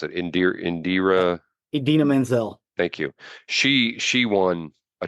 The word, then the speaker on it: Idina Menzel: I can't pronounce it. Idina Menzel.